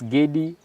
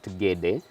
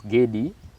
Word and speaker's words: Gedi: So it's Gedi, not Gede, but you'll hear some people call it Gede.